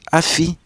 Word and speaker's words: afi: A year is said as afi.